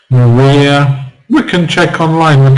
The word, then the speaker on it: Maria: Maria will compose a beautiful symphony tomorrow in memory of her father.